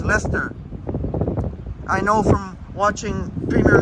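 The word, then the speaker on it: Leicester Square: century walks Lester that's Lester square and it is pronounced Lester not lychester or Leicester it's Lester I know from watching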